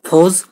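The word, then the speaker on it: φῶς: ফস কথাটির অর্থ কি? অনেক জায়গায় তোমরা পেতে পারো PHOS, ফস বা ফস।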